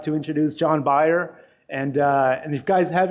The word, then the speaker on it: John Beyer: John Beyer, phonetically, is a principal at SMBH Incorporated.